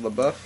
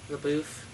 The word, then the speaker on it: LaBeouf: Kyle LaBeouf, and is that how you pronounce it, LaBeouf? LaBeouf. It goes either way. It goes either way, LaBeouf or LaBeouf.